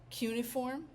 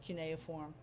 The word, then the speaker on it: cuneiform: The style of writing, their alphabet, that system of writing we call cuneiform, or sometimes people pronounce it cuneiform. Either one is fine.